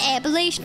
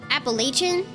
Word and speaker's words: Appalachian: Appalachian? Oh, I was saying Appalachian. It's not Shin, it's Chun.